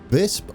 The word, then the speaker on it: Visp: Obviously, we're going to finish off the bridge work at Visp, I've been informed, is how you pronounce it, and I've been calling it Wisp. So we'll go with Visp for now, which is easier on me because